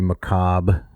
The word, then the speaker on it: macabre: Oedipus Rex, the very macabre. Did I pronounce that right? I think you did.